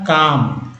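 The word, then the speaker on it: calm: एल एम में एल जो है साइलेंट है, एल क्या है, साइलेंट है, यानी कि इसका उच्चारण होता है काम, क्या होता है, काम, ना कि काल्म।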